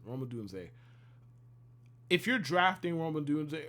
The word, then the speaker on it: Rome Odunze: Rome Odunze, excuse me, that's how you pronounce it. Rome Odunze.